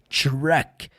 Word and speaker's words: truck: E aí você vai lembrar que a pronúncia do caminhão não é truck. É sempre lá dentro, o som do R. Truck.